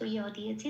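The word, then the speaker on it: যদা: সেই জন্য উপরে ব্র্যাকেটে হস্যই প্লাস অন্তস্থ ইয় দিয়েছি। তাহলে উচ্চারণটা বাংলা জয়ের মতো হবে না, কি হবে? ইয়। দাটা যেমন আছে তেমন। তাহলে শব্দটা কি পেলাম? ইয়াদা।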